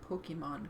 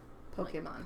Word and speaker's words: Pokémon: speaking of pokey poke Pokemon I was saying it wrong yesterday I got corrected I was saying Pokemon and he's like no Pokemon Pokemon So speaking of what's